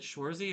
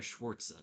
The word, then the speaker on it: Schwarze: Followed by Republican Party endorsed candidate Adam Schwarze, 18,361 for 22.30%. Is it Schwarze or Schwarzer? It's Schwarze.